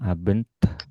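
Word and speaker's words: Abend: Ini tadi aben tambah tambah hembusan abent bent abent ini biasanya banyak yang kadang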